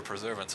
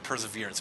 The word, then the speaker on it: perseverance: Longs but we'll trigger preservance on him uh perseverance perseverance I'm sorry I keep saying preservance I don't know why it's pronounced perseverance uh to all your non-english